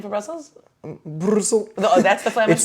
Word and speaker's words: Brussel: the flamish name for Brussels Brussel that's the flamish name it's just like uh in English but without the S on the end okay Brussel and then